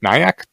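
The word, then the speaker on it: NAIAC: AI advisory committee niac do you know how to pronounce that shortly is it like nyak yeah okay uh nyak what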